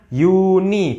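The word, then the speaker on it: Juni: Jerman Mai Udah sisanya Yuni bukan Jun Tapi Yuni pakai iye bacanya yeya Yuli bukan Juli tapi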